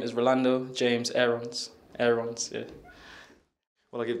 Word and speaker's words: Aarons: My name is Rolando James Aarons.